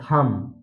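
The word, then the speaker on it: thumb: जब भी किसी वर्ड में अगर यम के बाद बी आता है तो वहां पर बी साइलेंट रहता है। जैसे जैसे थम, थम, उसके बाद कॉम, बॉम, डम, तो इन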